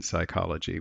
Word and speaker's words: psychology: the word psychology and we don't pronounce that P do we in psychology we just pronounce this part and we don't have